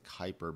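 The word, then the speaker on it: Kuiper: an object in what is known as the Kyper belt um that's spelled Ki p r and basically it's like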